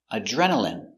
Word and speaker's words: adrenaline: next we have adrenaline adrenaline remember in here is pron oun in adrenaline adrenaline you get a